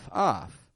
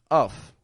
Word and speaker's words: of: this here real quick the first one o off most people don't struggle with that one but